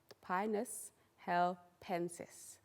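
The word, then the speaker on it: Pinus halepensis: you can say it the correct way it's pronounced pinus hel pensis pineless helpensis say it please pionus hal pensis so commonly known as the apellopine and in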